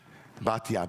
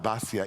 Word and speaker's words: Batya: Batya, Basya in Ashkenazi pronunciation.